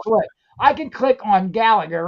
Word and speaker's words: Galaga: How you spell it? G-A-L. Galagy. No, Galaga.